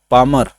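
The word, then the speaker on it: Palmer: देखिए अंग्रेजी में तो यहाँ पे यल साइलेंट हो जा रहा है, ठीक है ना, पामर।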